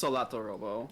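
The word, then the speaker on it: Solatorobo: other work, particularly with like Tail Concerto and Solitarobo. Is that what it's called? I always feel like I'm mispronouncing. Yeah, it's Solitarobo.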